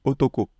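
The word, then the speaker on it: 男: mis le tracé ici ça se lit Otoko on l'avait vu dans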